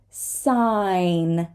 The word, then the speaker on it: sign: word is you try don't say the g foreign foreign sign sign we're not going